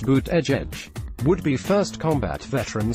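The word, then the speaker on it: Buttigieg: of not Redang academics surname is pronounced boot edge edge would be first combat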